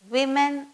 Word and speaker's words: women: and woman servant becomes women servant w-o-m-e-n is pronounced as women though it is w-o-m-e-n it is pronounced as women w-o-m-a-n-s woman and w-o-m-e-n-s